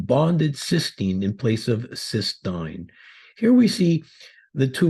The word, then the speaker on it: cystine: amino acid cysteine again please note the difference in spelling and pronunciation compared to cysteine cysteine is two cysteine